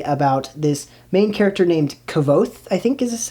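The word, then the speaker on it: Kvothe: This is another adult high fantasy about this main character named Kavoth, I think is how you say his name.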